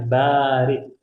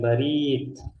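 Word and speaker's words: برد: sedikit kosakata yangt ada ingat bacanya bar bukan barid ya kalau barid itu kantor pos tapi kalau bar itu dingin bar kihatan ya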